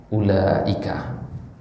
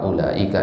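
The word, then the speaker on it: أولئك: Jadi kalau kita baca kata ulaika ini panjang enggak u-nya? Hah? Panjang apa pendek? Tidak. Jadi seolah-olah wawunya enggak ada, tutup aja itu wawunya sama aja.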